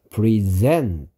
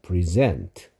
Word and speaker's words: present: 때하고 발음이 달라진다고 얘기했었죠 주다 수여하다 뜻일 때는 present 여기를 세게 읽어야 된다 했고요 선물이란 뜻일 때는 여기를 세게 읽어서 pres present라고 읽어야 된다 했죠 present 선물 present 주다 수여하다 자 주다